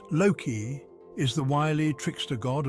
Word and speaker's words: Loki: Loki, pronounced Loki, is the wily trickster god of Norse mythology.